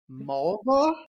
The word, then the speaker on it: Mulva: my name do you mulva mulva all right he said it REM rhymes with a female body yeah that's oh God